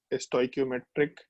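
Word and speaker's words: stoichiometric: ये दोनों word use किया जा सकता है, स्टोइक्योमेट्रिक यूज करो या फिर स्टीशियोमेट्री बोलो, दोनों में से जो प्रोनाउंसिएशन यूज करना है कर सकते हैं, कोई दिक्कत नहीं है।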